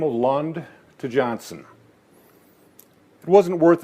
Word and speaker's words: Lundh: back across the sea grandpa knute decided lund without an h was a better name than johnson dad and his brother elof liked the silent h while uncle al figured